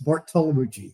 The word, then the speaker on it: Bartolomucci: How do you pronounce Bartolomucci? It's easy to butcher, but it's Bartolomucci, yes.